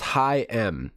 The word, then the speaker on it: HAIM: ever more featuring Heim Heim pronounced High m Heim I was right Heim